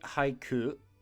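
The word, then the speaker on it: 俳: Our left kanji, haiku, or an actor, hai is our pronunciation.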